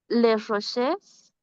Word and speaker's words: Les Roches: Bueno, ahí no pronuncio ni la E ni la S, Abril.